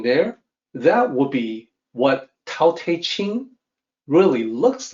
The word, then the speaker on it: Tao: on two things here the unasporated t is supposed to sound like d the T Cell the Tao is spelled with a t if you wanted to say the aspirated tea you will need to put an apostrophe next to it this is the unique